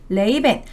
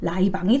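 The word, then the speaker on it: Ray-Ban: 그래서 이게 선글라스로 이제 유행을 하게 된 거고, 딱 요 디자인만 계속 고수하는 레이벤. 레이벤은 이제 우리나라 발음으로 라이방이 된 것이죠.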